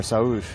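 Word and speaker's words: Sağır: I was informed by a Turkish person that I was saying it wrong.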